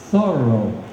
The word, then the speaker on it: Thoreau: variations with each experience thorough your family name put the emphasis on the first Syle syllable as in the adjective thorough did it not at